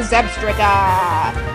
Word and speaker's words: Zebstrika: For now, you are a Zebstrika! Zebstrika! That rhymes with swastika!